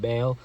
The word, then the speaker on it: Baal: They worshiped Baal. That's how you say it, Baal.